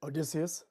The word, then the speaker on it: Odysseus: Odysseus.